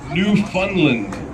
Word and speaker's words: Newfoundland: has relatives in newfoundland newfoundland i don't understand the proper way to say it newfoundland they don't like it when you say the d and when she goes